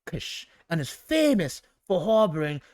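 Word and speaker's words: KIIS: The radio station is pronounced like Kish and is famous for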